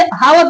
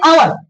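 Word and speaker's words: hour: मैंने इसको पहले जब मैं छोटा था पढ़ता था इसे हावर पढ़ा था। क्या पढ़ा था? हावर। मुझे नहीं पता था ये। इसे अब समझ में आया कि इसे पढ़ते हैं आवर।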